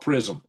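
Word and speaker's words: PrSM: And now America's new prism, p r s m is called prism.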